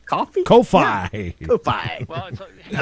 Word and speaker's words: Ko-fi: How do you pronounce Coffee. it? Coffee? Coffee? Ko-fi.